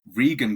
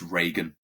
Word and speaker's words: Regan: Now, Regan got mistaken a lot of the time. Um, People would often think it was Reagan, which they're spelled the same, just without the A.